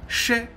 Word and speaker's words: Shè: auront aussi noté que Shè est prononcé avec la langue vers l'arrière, Shè, alors que Xie est prononcé avec la langue vers l'avant, derrière les dents.